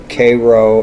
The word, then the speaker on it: Cairo: we have 18 men k row is south and that's how that would have been pronounced and still is down here cairo but there should